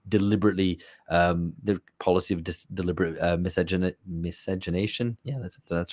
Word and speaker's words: miscegenation: And so in Brazil, it was deliberately the policy of deliberate miscegenation.